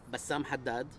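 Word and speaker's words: Bassam Haddad: aess my name yes please can can you spell it for us Bassam Hadad b a SS a m a h a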